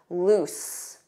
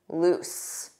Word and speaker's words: loose: Now, don't confuse this with the spelling of lose, which has one O and a different pronunciation, because notice that z, z, lose, lose. Repeat after me, lose. But not tight, loose, with an S, loose.